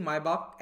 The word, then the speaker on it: Maybach: एसपीजी ने 2 Mercedes मायबाख S650 गाड़ियां खरीदी हैं। अच्छा, इसका प्रोनाउंसिएशन मेबैक नहीं होता है, मायबाख होता है। ठीक है, जर्मन नाम है।